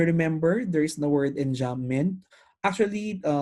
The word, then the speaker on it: enjambment: So if you remember, there is the word enjambment. Actually, many writers will pronounce this as enjama.